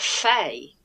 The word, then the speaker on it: Fe: just clarify I think it's supposed to be pronounced Fay it is thing so it is 100% fair